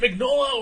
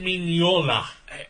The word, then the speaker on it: Mignola: yeah uh by Michael magola mola is it magnola or is it minola everybody who seems like they're in says minola